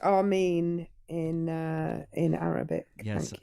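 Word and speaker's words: آمين: It's actually pronounced Armen in uh in Arabic.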